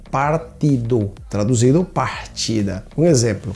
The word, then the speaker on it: partido: Partido, igual que quando você traduz ao português, seria partida, só que olha a pronúncia, partido, partido, traduzido partida.